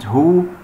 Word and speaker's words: who: يعني العكس صحيح، يعني هنا ال W صامت وال H ننطقه، زي كلمة who، كلمة برضو كلمة whose.